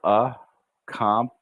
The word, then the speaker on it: accomplishments: Now, in this word, it's almost as if that first C we don't say. We say accomplish, accomplishments, accomplishments, accomplishments.